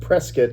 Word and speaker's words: Prescott: people who live there you can always tell if somebody is from Prescott or not by how they pronounce it. But Prescott is where I lived and Like biscuit. Yeah, like biscuit.